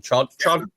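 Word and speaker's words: Chadron: I'm going to say the name wrong. Shadron.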